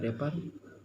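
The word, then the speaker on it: wrapper: all drawn on great sheet of रैपिंग पेपर, जो रैपिंग पेपर, रेपर जो होता है, रेपर डब्ल्यू साइलेंट है, रेपर पेपर जो ढकने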